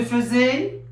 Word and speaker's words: faisais: Je faisais, Tu faisais, il faisait, nous faisions, vous faisiez, il faisait. AI, il se prononce E.